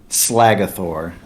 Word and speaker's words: Slagathor: I added the starter, Bulbasaur, and his name is Slagathor, is how I believe it's pronounced. It's Slagathor.